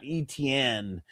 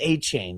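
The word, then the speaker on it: Etienne: That it's not ETN, that it's A-Chain.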